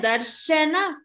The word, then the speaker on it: darshana: the consonant like here, try not to stress on the ra. Like some people pronounce it like darshana or roll the r. So do not roll the r. Rather put stress on the sha. Darshana. It is not darshana. It is darshana.